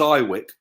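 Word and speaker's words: IWYK: the way vessie yeah I IW YK we pronounce it as I Wick just for shortening and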